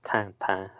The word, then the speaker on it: Tintin: That definitely was perhaps paying homage to the Tintin series, or Tintin, as somebody once told me it's pronounced in French.